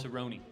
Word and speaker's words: Cerrone: Cerrone. Cerrone. Cerrone. It's a Yeah. soft C.